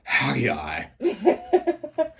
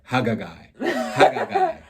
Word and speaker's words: Haggai: Haggai, I want to pronounce the second G. Like Haggai.